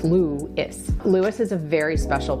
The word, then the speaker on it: Lewes: And yes, even though it's spelled L-E-W-E-S, it is pronounced Lewis.